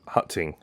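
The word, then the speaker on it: 刻晴: retrieve the fireworks with Hutting. That is the Cantonese pronunciation of Keqing's name, so I'm going to be using that.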